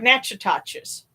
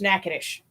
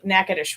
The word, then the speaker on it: Natchitoches: at it on the map, it looks like Natchitoches. but it's actually pronounced Natchitoches. And of course, a lot of folks that live there, joke and call it nacho toe cheese, but or Naca trash. But yeah, Natchitoches was the way to say it.